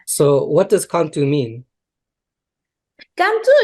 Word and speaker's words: Qantu: what does contour mean Cantu is the national flower in Peru the name in Spanish is cantuta but in the in the mountains in in quechua or in the mountains people the people pronunciation is why we choose this name because this flower is